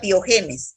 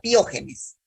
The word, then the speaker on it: piógenes: No diga piogenes, diga piógenes, ¿ya? Piógenes. Acento en la O, piógenes, ¿ya?